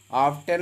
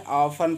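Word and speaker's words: often: ऑफ्टन है, ऑफन पढ़ते हैं, टी को नहीं पढ़ेंगे। ऑफन मीन्स होता है अक्सर।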